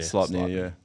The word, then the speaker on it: Sleipnir: Sleipnir. Done. Is that how you say it? Sleipnir. Sleipnir, yeah.